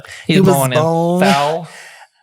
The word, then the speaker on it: Thal: He was born in born- Thal. German pronunciation, Thal.